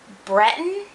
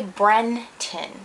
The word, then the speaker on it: Breton: these are i don't i can't say it right breton b-r-e-t-o-n i always want to say bren tin but it's wrong breton b-r-e-t-o-n i like the sesame